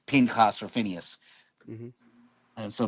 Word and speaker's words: Pinchas: and now it's and as per the Masoretic pointing, it's pronounced Pinchas.